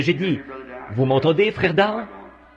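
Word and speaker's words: Daugh: C'est un allemand et à vrai dire son nom c'est D A U G H mais moi je le prononce simplement D.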